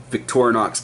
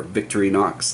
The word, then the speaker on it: Victorinox: really like that knife this is the Victorinox camper or victory Knox depending on how you want to pronounce it I don't believe I